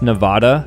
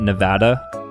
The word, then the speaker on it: Nevada: That's Nevada, not Nevada, but I'm East Coast.